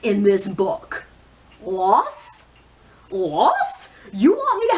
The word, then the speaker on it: Loth: Loth? Loth? You want me to have an emotional attachment to a character named Loth. Like Sloth, but with the S cut off.